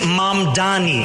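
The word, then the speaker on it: Mamdani: And furthermore, the name is Mam Dani. M A M D A N I. You should learn how to say it.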